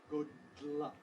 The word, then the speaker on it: good luck: escape over the sides how do we go from D to L we move the side rims of the tongue we keep the tongue tip in place Good Luck Good Luck Good Luck